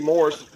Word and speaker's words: Morris: I talked so fast the S would be silent but no it's actually Morris.